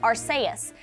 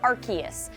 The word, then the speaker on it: Arceus: is a valid pronunciation based off the Japanese Katakana symbols of his name arus USU so you